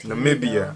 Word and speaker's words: Namibia: And that is how you spend a cheap day in Namibia. if you like my travel videos... Namibia. No, Lord. Namibia.